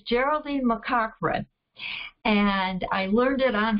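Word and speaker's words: Geraldine McCaughrean: And the first book we're reading, I'm glad to tell you I learned how to pronounce her name. It's Geraldine McCochran.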